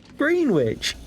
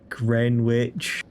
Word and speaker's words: Greenwich: Green witch. Sorry, grin witch.